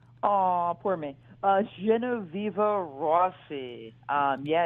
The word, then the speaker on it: Genoveva Rossi: Genoveva Rossi. Yeah, it's an Italian name, Oh, so okay. I always say it's best to say it with an Italian accent. Okay, Genoveva Rossi.